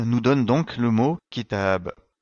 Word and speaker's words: كتاب: donne donc le mot Kitab si on prononce ce mot sans prolonger le son a c'est une erreur car le mot livre en arabe se dit Kitab et non pas Kitab qui ne ve rien